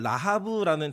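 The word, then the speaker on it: רָחָב: 뜻입니다 그 잎임은 라합이 라합이라고 하는 히브리어는 라하브라는 단어인데 자랑하는 교만한 오만한 거대한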